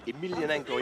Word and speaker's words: Emelianenko: Yeah, he really wants to fight Fyodor Emelianenko. Yeah, that's the way you pronounce it.